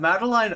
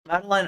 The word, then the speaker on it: Madeleine: discussing an issue that Madeline Albright Madeleine I think it's pronounced sorry uh Albright uh